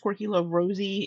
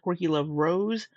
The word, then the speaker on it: QuirkyLoveRosee: I think that's how it's pronounced, Quirky Love Rosie instead of Quirky Love Rose, because her name is Rosie Jean.